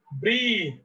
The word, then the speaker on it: breath: Breathe, breathed, and breathed.